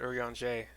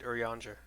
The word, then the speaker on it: Urianger: something of value okay I've been pronouncing it early on Jay but he just said urianger kind of soft on the r but also Emerick is